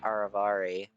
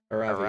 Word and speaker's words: Aravi: Hey, your game for any kind of tandem hip movements, as long as they're with Aravari, or wait, Aravi. Aravi. I'm adding syllables.